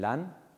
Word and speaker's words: Lasne: Y este encuentro que tuvimos aquí en este lugar, en LAN, que se escribe LASNE, puede ser un campamento que marque un antes y un después en vuestra vida.